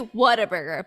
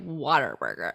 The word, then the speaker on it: Whataburger: It's actually Whataburger, but we say it Waterburger.